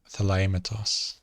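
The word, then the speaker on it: θελήματος: We have another new letter here, mu, like our Greek letter M, it's m, mu, and this is pronounced thelematos.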